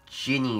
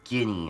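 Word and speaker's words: Ghini: This is an enemy called a Ginny or a Ginny, I think. It's like, it's spelled, G-H-I-N-I.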